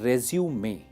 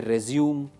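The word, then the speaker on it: résumé: अच्छा, एक चीज पे आप ध्यान दीजिए, इस वर्ड की स्पेलिंग है रेज्यूमे, ठीक है। बहुत सारे कैंडिडेट्स प्रोनाउंसिएशन में गलती कर देते हैं, कहते हैं रेज्यूम, रेज्यूम, रिज्यूम। This is रेज्यूमे।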